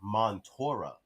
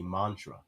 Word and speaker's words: mantra: era around that time mantra used to be called montora because that's how it is spelled out like when you romanize the kanji that is in japanese they have it montora but that's not what oda was going for he wanted it to be mantra you know they just